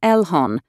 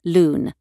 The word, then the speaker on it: LHON: view in the video el hon is pronounced in two ways elhon and lun the speaker is christerinde